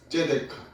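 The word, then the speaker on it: צדקה: 여기 공이의 히브리어 발음은요. 제데카입니다. 뭐라고요? 제데카.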